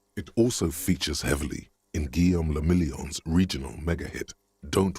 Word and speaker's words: Guillaume: meant only one thing guillaume if it doesn't rhyme you're not pronouncing it right out of the dazzling